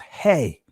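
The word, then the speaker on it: ה: The 5th letter of the Hebrew alphabet is the Ha. In the Israeli language is pronounced Hey.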